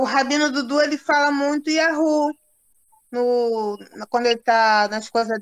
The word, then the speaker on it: Yahu: Pois bem, vimos que o bigrama, as duas letras Yud, He, se pronuncia como Ya, e o trigrama Yud, He, Vav, né? Como Yahu.